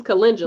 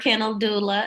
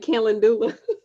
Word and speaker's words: calendula: yes with my hormones mm-hmm how do you pronounce it is it can do look this is calendula you know what so marigold marigold calendula uh i heard kendall doula and i thought that was so funny when